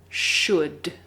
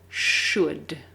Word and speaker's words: should: of water should so remember the L is silent we don't say it so the pronunciation is should should first let's review what